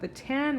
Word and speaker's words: theta: Theta is a Greek letter. It's pronounced theta.